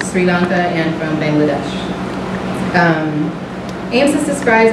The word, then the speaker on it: AMSIS: This was the third AMSIS, I'm going to call it AMSIS from now on, so that's how they pronounce the acronym.